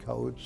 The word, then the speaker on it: Koch: He pronounced it Coach. So he was Mr. Coach to me.